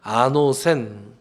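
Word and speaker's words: ἄνωθεν: 거듭이라고 번역된 헬라어 단어는 아노센, th 발음이라 아노센 이렇게 돼요.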